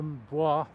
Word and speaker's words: bois: Now, it always grates a bit when I hear the word Cheshire Boys, because it's B-O-I-S-W, B-O-I-S, which in French is pronounced bois. So I think it should be Cheshire Bois, but I'm in a minority of one.